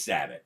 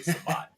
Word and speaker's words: Sabat: It's Sabat, but the running joke is we all say Sabat, just we pronounce it. Because he's so famous that we just thought it'd be funny if we fucked up his name and everybody called him Sabat.